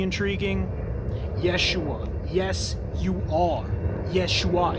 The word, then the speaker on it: Yeshua: Yeshua. It sounds like that. Like, yes, you are.